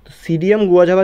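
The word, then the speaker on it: Psidium guajava: প্রসিডিয়াম হয় না ওখানে যেরকম নিউমোনিয়ার আগে পি লেখা যায় পি লেখা থাকে পি নিউমোনিয়া এরকম থাকে ঠিক এরকম প্রসিডিয়ামে এখানে একচুয়ালি পি সিসিডিয়াম একচুয়ালি উচ্চারণটা হয় সিডিয়াম থেকে ঠিক আছে সিডিয়াম গুয়াঝাবা যদি কোন জায়গায় থাকে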